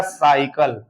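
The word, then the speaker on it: cycle: को हम क्या पढ़ेंगे सी के बाद वाई आया है तो इसको हम क्या पढ़ेंगे स पढ़ेंगे क्या पढ़ेंगे स तो ये हमारा उच्चारण हो जाएगा साइकल साइकल दूसरा आप देखेंगे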